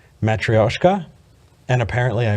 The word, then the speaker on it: matryoshka: So I said babushka, and I got emails and messages and every different, it's called a matryoshka doll. You need to quit calling it a babushka doll.